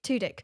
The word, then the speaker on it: Tudyk: And I would be with Alan is that how you pronounce it? Tudyk. Tudyk.